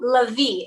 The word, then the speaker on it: Lavi: your last name right lavi is that how you say it so la vie it's like the emphasis is on the end love it okay so